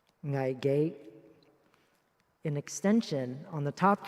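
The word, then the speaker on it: 危機: In Cantonese, it is pronounced ngai ge.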